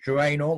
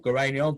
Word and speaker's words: geraniol: The substance inside is called geraniol or geraniol, depending on which way you like to pronounce it.